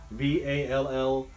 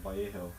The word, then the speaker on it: Vallejo: pronounce that right there, Vallejo. LL in Spanish, of course, has a Y sound to it. Vallejo, yeah. LL is a Y sound and J is a H sound. So it's Vallejo, California, not Vallejo.